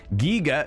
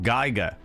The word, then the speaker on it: Giger: Um, Giger, not Geiger. Is Is that right?